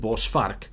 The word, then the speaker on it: bossar: for future ref my name will always be bossar in video games and I'm pronouncing it bossar so that if people it's not a very common name in America or on the onlines or anyway or anywhere else except if you're South African so that's always a